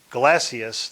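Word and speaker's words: Gelasius: of the two swords galacious that's how you say it glasses um articulated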